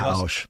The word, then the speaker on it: Pausch: Randy, and how do you pronounce that? Pausch.